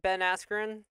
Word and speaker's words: Ben Askren: Jake Paul being, it's announced that he's going to fight Ben Askren. Did I pronounce that correctly?